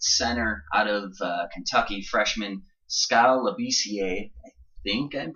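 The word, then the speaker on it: Skal Labissière: is the 7-foot center out of Kentucky, freshman Skal Labissiere. I think I'm pronouncing that right.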